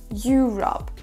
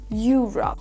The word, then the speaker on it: Europe: Donc on accentue le mot Europe sur la première syllabe. Il faut qu'elle ressorte plus que les autres. Europe. Europe.